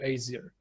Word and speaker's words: Aesir: Aesir, right? I'm pronouncing that right.